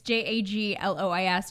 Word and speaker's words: Jaglois: No one can pronounce it, but try anyway. It's Jaglois, Jaglois.